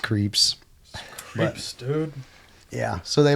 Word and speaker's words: CREEPZ: Nobody can pronounce it correct. It's just creeps.